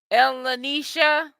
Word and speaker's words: Elisha: you it's it's um your name is pronounced Elisha was that how you pronounce your name sweetie yeah I heard about